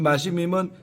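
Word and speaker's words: משמים: 두려워 떨며로 번역된 마시밈, 이제 히브리어로 마시밈이라고 발음을 하는데 이 마시밈은 마음의 상태를 표현할 때 당황스러움을 바로 뜻하는 단어가 바로 이 단어입니다.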